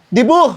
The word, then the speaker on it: debut: Dibu, tanga-tanga. Tangina mo. Silent T yun. Silent T ba yun? Silent T yung debut.